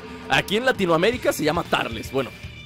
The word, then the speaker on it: Turles: est esperando tarles o turles como ustedes le quieran decir aquí en Latinoamérica se llama tarles bueno se pronuncia como una a la u no como cuando dices Up en vez de Up algo parecido no son cuestiones